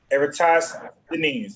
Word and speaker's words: Eratosthenes: You see the name right there, Eratosthenes, but that means how you gonna pronounce it? Eratosthenes.